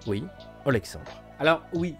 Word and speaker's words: Alexandre: auprès de oexandre oui Alexandre alors oui le prénom vous avez peut-être l'impression que je l'ai mal prononcé ou j'ai fait une faute mais parce qu'en fait toute cette histoire se déroule en Russie Alexandre était donc tranquillement